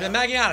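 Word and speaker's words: Magallanes: for the aforementioned fantastic rich maganus rich maganus maganus that's the way you pronounce it rich uh worked on every season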